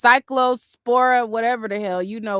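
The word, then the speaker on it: Cyclospora: Um, somebody said it's pronounced cycllospora, whatever the hell.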